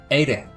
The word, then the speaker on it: Éire: And actually your slender R sounded very good. It's nearly like people say like a Spanish D. Ede. Ede. So Ede is Ireland in Irish,